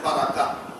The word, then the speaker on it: বরকত: বারাকা উচ্চারণ আরবি, বরকত উচ্চারণ ফার্সি, আমরা সেটা বাংলায় ব্যবহার করি।